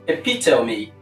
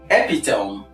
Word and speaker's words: epitome: if you tell me the last sound there is a vowel sound which is is sound EP me EP me EP me